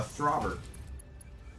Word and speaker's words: Throber: A throber. Could you spell that? T H R O B E R brother. Like robber with a th at the front.